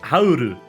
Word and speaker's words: Howl: Obviously, because Japanese people cannot fucking pronounce anything, his name in Japanese is pronounced Hauru, which is just the katakana transliteration of howl into Japanese. Hauru.